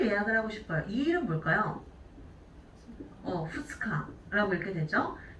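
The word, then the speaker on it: 二日: 후츠카라고 읽게 되죠. 자, 그럼 우리 3일은 뭐라고 하죠? 밑가라고 읽게 되죠.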